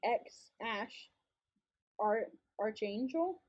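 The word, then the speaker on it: X Æ A-Xii: It's supposed to be X Ash, Archangel. Am I reading that right? Supposedly. That's how he wants it pronounced.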